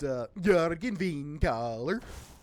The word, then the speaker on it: Jurgen Windcaller: Yeah, actually it's pronounced Jurgen Windcaller.